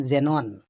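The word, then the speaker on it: xenon: এবং এটা মনে রাখতে হবে যে ওয়ার্ডের প্রথমে যদি এক্স আসে, তাহলে কিন্তু এটাই উচ্চারণ হয় জর মতো। যেমন জেনন, কোনো একটা কেমিক্যাল পদার্থ।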